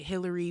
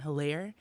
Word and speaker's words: Hilarie: a lot of people in local news were pronouncing it hillary but as i was looking over the court documents and reviewing the case itself it's pronounced adam hillaire he was an fsu fan he was 27